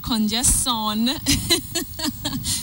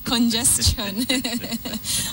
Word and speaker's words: congestion: Okay, so it's not congestion, it's congestion. All right.